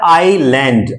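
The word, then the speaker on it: island: आइलैंड, जितने भी द्वीप समूह है, the Lakshadweep एंड the Andaman एंड Nicobar आइलैंड, इसको पढ़ते हैं आइलैंड, IS आइलैंड, S is silent.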